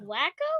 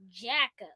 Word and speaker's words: Jacko: Wacko? No, not Wacko. It rhymes with that. It's Mrs. Jacko.